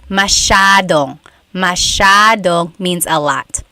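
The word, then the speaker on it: masyadong: Elijah said, "How do you pronounce mashadong?" Mashadong means a lot. So the s y a is a sha sound.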